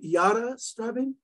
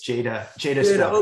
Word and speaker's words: Jada Strabin: Is it Yara Strabin? It's Jada Strabin.